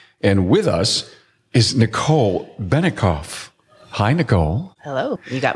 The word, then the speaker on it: Bennecoff: with us is Nicole benicoff hi Nicole hello you got my name right I did yeah and I didn't think I would goof that up but it's actually it sounds like it's spelled her shop is subie